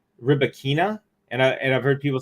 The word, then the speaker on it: Rybakina: I think the whole tennis community ought to pronounce the Wimbledon championships champion's name correctly. Rybakina.